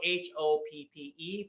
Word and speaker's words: Hoppe: It's spelled Hoppe, but Bill Hoppe.